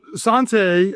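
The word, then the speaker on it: Santé: So, Sante, and for the record, correcting the pronunciation of the name, it's a it's a French word. So, Sante is essentially cheers in French.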